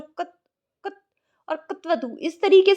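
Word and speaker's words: क्तवतु: तो इसका जो सही उच्चारण है वो होता है प्रत्यय कत्वतु प्रत्यय। तो इस तरीके से ये इसका शुद्ध उच्चारण है।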